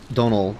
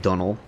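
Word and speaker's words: Domhnall: It's like donal. Sort of rhymes with like tonal.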